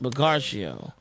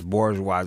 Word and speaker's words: bourgeois: this word man but butario is that how you say it Sam Dam Sam it's Bourgeois it's where bougie comes from what yeah it's like